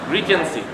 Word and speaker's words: regency: Oh yeah, a little bit license pronunciation regency. G itu dibaca J. Regency.